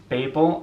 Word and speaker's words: Babel: next up we have Babel I'm gonna is it people or is it but I'm gonna say Babel because I feel like most people say it like that so I'm gonna be